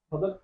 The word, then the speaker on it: فدک: عرض کر رہا ہوں کہ یہ جو باغ فدق ہے، باغ فدق کا فیصلہ 12 اماموں کے